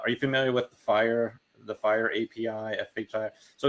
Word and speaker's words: FHIR: um you know is is pronounced fire but it's fhir and